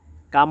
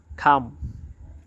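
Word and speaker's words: come: কিন্তু আমরা এটাকে কাম বলবো না। আমরা এটাকে বলব খাম। খাম সি ও এম ই যেখানে ক আছে সেখানে খ উচ্চারণ হবে।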